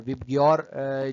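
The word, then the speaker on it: VIBGYOR: वीआईबी जी वाई ओ आर। विबग्योर जो है इसको प्रोनाउंस करते हैं और इससे आप याद कर सकते हैं ये डिफरेंट सेवन कलर्स।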